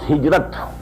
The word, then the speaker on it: hijrah: I said, at some time in my discussion that I'll explain the word hijrah also. Hijrah, which we in Urdu pronounce hijrat.